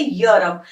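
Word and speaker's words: Europe: जैसे आप यहां देखो यूरोप में य ई है लेकिन प्रोनंसिएशन क्या बन रही है यूरोप तो हम इंग्लिश को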